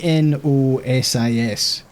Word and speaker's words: gnosis: to learn gnosis point it's g n o s i s nosis Point silent G you will find them